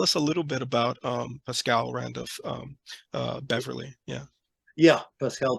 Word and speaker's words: Pascal: Yeah, Did I pronounce the first name right? I believe Pascal. so. Yeah, Pascal.